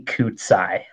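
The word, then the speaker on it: Kacaj: no it's not horrible it's actually it's weird it's jimmy kutzai uh i would have never gotten koozai out of that yeah i see it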